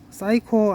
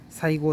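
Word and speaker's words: 西郷: 풀립니다 예 쌓이고 쌓이고 발음을 잘 하셔야 합니다 사이코 아니고 사이고입니다 흥미로운 건 사이고 다카모리가 정한론자냐 하는 문제인데요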